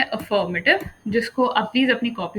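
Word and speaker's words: affirmative: अफर्मेटिव मैंने देसी अंग्रेजी में कहा है, एक्चुअली इसकी प्रोनाउंसिएशन है अफर्मेटिव, अफर्मेटिव, ठीक है जी।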